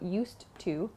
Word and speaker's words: used to: I used to also please consider the pronunciation here so not used to but native speakers connect the D and the T sound at the end of used and to so it's not used to but used to used to there's just one sound there used to so think